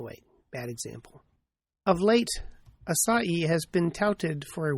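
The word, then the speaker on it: açaí: Now that's spelled a c ai but evidently pronounced asai with the emphasis on the last salab.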